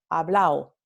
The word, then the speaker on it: hablado: Tenemos la omisión de la D en palabras que terminan con ado, ¿no? Entonces, por ejemplo, la palabra hablado, como yo he hablado, en el centro norteño se va a pronunciar hablao, hablao, ¿no?